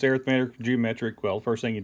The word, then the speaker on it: arithmetic: talk about two of them we'll talk about arithmetic and that's how it's pronounced arithmetic and then geometric an arithmetic sequence is when